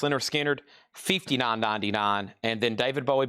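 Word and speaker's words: Lynyrd Skynyrd: Leonard Skinner, pronounced Leonard Skinner, $59.99.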